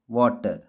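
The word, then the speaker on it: water: डब्लू ए टीई आर वाटर यहां friends आपने देखा पार्शल में टी श के रूप में पड़ा नेचर में टी चौ के रूप में पड़ा और वाटर में टी ट के रूप में पड़ा तो फ्रेंड्स आज की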